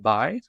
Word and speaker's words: Bi: It's actually pronounced B, but I think Bi might be a bit more fitting for discussing the Greeks.